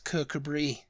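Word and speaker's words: Kirkcudbright: much dead on with one of those it's kabri kabri yeah k a see I was just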